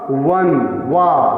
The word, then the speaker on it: one: ओ वही है, लेकिन यहाँ पास ओ जो है यहाँ कॉन्सोनेंट साउंड दे रहा है, इसका प्रोनाउंसिएशन होगा वन, वाह।